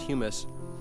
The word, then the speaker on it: humus: emit a substance called humus which is spelled like hummus but is pronounced humus and it's an acidic